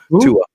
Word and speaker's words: Tua: that's not how you say it at all Tua oh Tua Tua yeah so Tua is making